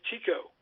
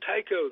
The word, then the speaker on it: Tycho: He pronounced it all his life Tico when it was short. And we pronounced it Tycho. The rest of the family pronounced it Tycho.